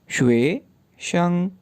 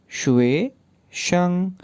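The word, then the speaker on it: 学生: अब स्टूडेंट की बारी है, स्टूडेंट को किस तरह से प्रोनाउंस करेंगे, सेलेबल्स बना लें। शुए शंग, शुए शंग, शुए शंग, शुए शंग।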